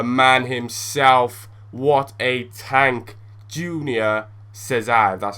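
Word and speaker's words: Júnior César: What a tank, Junior Cesar, that's how you say his name.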